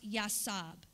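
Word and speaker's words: יָצַב: Stand still is H3320, which is pronounced Yasab.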